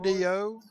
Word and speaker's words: Burdo: And is that Boudreaux or Burdo? Oh, was I saying it wrong? B-U-R-D-O? Burdo.